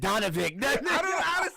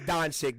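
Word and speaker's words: Dončić: said donavik these names man it's don chick the v the v is silent yeah okay see but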